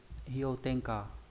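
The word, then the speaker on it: 氷点下: Còn khi ghép âm nó đọc là hyo, ví dụ trong từ hyo, hyo tenka băng điểm hạ, có nghĩa là dưới điểm đóng băng.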